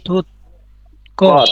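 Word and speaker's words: 듣기: কি হবে উচ্চারণ হবে এই যে থুতকি উচ্চারণ হবে থুতকি এই থুতকি অর্থ কি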